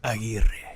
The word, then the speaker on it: Aguirre: Jorge Aguirre. Okay. Yeah, I could never pronounce it like that.